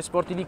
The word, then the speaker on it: SporTiVì: ricordiamo YouTube ricordiamo il nostro canale YouTube redazione sportivi con l'accento sulla i e anche la pagina Facebook